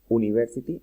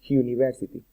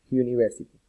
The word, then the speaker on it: university: se pronuncia uniform o university, no, se pronuncia uniform y university, como si fuera una J. Uniform, university.